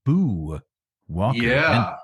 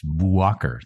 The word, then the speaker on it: Boo Walker: nomed plume of yours boo Walker and when one pronounces it one must must pause between and Walker because otherwise you get this Bo Walker thing Bo Walker this is